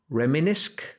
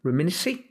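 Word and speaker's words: reminisce: Reminisk, reminiska, reminis, reminis. Więc wystarczy sobie wejść, sprawdzić wymowę, odsłuchać choćby na zwykłym translatorze i mamy reminis.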